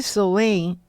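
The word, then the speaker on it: Samhain: Mas é o Sabasso se escreve Shahim. S a m a I, mas se pronuncia sou e souen é o sábado da terceira colheita.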